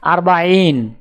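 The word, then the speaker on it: أربعين: আরবি ক্রমিক সংখ্যা 40 দেখতে এরকম, উচ্চারণ হবে আরবাইন।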